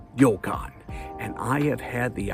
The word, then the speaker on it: ryokan: Now, the word is pronounced yokan, just to be clear. You see, since there isn't an R in the Japanese language, the R tends to sound more like a D, here's a great example.